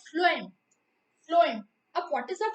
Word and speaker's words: phloem: This is some students pronounce like this phloem. This is not a phloem. This is the phloem.